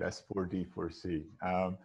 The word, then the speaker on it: S4D4C: So did I pronounce it well, Mitchell? Yes, that's exactly how we say it, S4D4C.